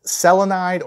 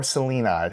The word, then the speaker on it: selenide: a look at aluminum you can call it selenide or selenide however you want to pronounce that s-e-l-e-n-i-d-e so you suspect